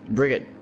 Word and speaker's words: Brigitte: Bridget, her, the way you pronounce her name is actually not Bridget. I forgot Brigitte.